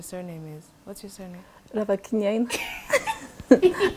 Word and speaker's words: Ravakiniaina: Ravakiniaina.